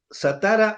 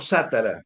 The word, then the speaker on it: Satara: Satara o Sátara. Sátara, es Sátara. Acordate que las palabras. Correcto, pero siempre fue así, digo. Claro, sí, sí, sí. La pronunciación italiana no es como aquí, como en la Argentina, que se pronuncia se acentúa la penúltima, sino que se acentúa la antepenúltima, o sea, sería sátara siempre, ¿no?